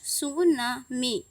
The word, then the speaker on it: tsunami: सु मीन्स यहाँ पे टी साइलेंट है, इसलिए हम टी सू नहीं बोल रहे हैं, यहाँ पर सु बोल रहे हैं।